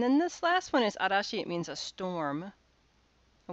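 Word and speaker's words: 嵐: go zhu and then this last one is arashi it means a storm i wouldn't expect you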